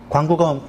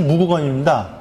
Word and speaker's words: 무구검: 그리고 요것이 광구검 때, 광구검 사실 무구검입니다. 광구검은 우리가 잘못 읽은 거고요. 원래 발음은 무구검입니다.